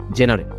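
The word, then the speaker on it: genre: থাকি যে এটা কোন ক্যাটাগরির বা এটা কোন জেনারেল জেনার এটার অফিশিয়াল প্রনান্সিয়েশন হবে জনরা।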